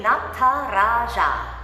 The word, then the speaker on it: Nataraja: Nataraja. That's how you say it. Nataraja. Just practice that part, and then you can speed it up.